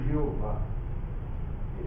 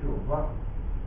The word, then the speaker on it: Jeová: O nome Jeová vem de uma pronúncia que algum hebraísta, não judeu, evidentemente, ele colocou, não é?